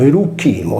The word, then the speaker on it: Erucinum: Tolomeo individua il centro di Erucinum, pronunciato Erucchino, della Croce nella Sardegna